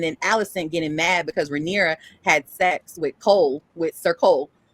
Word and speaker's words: Rhaenyra: Rhaenyra. Thank you. Rhaenyra. Welcome. How you're saying Rhaenyra's dad, and so Rhaenyra felt some kind of way about that, and then Alicent getting mad because Rhaenyra had sex with Sir Cole, and finding out